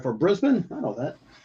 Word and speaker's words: Brisbane: But I get a pronunci right pronunciation right for Brisbane. I know that. It's not Brisbane. Brisbane.